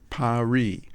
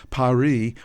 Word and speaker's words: Paris: The final S is silent.